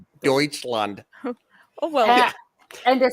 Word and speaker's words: Deutschland: When I first started learning it, the way it's spelled, I called it doucheland in my high school class. I was like, doucheland, and my teacher's like, no, it's Deutschland.